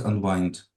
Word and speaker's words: unwind: It is spelled like wind. От звідки це слово unwind взялось? Воно пишеться як вітер. Бачите, wind. А читається wind.